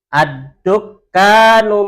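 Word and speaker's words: الدكان: Ad-dukkanu maftuhun. Ad-dukkanu maftuhun. Ad-dukkanu maftuhun. Ad-dukkanu maftuhun. Coba Bu Penta sendirian. Ad-dukkanu maftuhun. Sekali lagi. Ad-dukkanu maftuhun. Kafnya agak dipanjangkan dikit.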